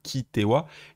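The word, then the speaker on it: 来ては: Kuru, qui est irrégulier, donc ici il se prononce bien Kitewa, et on a notre fameux Tewa Ikenai qui est la forme qu'on va étudier aujourd'hui.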